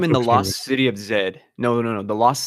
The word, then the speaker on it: Z: Canadian no why he said lost city of Zed that's what it's called loost city of Z but it is pronounced Zed and that is the most that